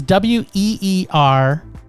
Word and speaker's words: Weerasethakul: And the last is Weerasethakul. Okay, I'd have to see that in order to. There you go. I would pronounce that.